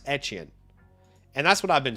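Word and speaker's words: Etienne: And uh yeah, you know, I was talking to Sammy about this whole Travis Achan thing and uh he believes that it's pronounced etchen. Travis etchin.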